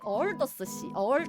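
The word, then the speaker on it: 鄂尔多斯市: 네, 중국 내몽골 자치주의 어얼더스시. 이거 중국어 발음 성조 몰라요. 오르도스라고 영어로는 표기를 하는데 어얼더스래요.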